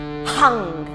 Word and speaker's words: hung: And the seed syllable for the heart center is hung, and it's spelled H-U-N-G with an overpronounced H, as if you're, letting out energy through that H.